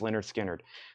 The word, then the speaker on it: Lynyrd Skynyrd: buy of this release pronounced Leonard Skynyrd that's from analog production